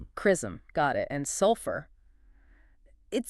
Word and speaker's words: XRISM: Oh, and just for context, it's pronounced chrism. Crism.